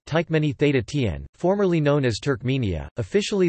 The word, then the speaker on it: Türkmenistan: Turkmenistan, listen or listen, Turkmen, Turkmenistan, pronounced Tykmeni Theta Tien, formerly known as Turkmenia,